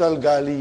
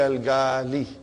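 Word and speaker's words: الغالي: You do not pronounce Al-gali you, but you say Al-gali. Okay, brother and sister?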